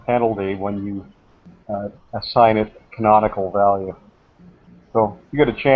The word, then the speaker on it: canonical: Then the ending of the word is I-C-A-L. Okay. Canonical. Canonical. Okay, now I've got it. Right. Yeah, and it's pronounced canonical. So if you look up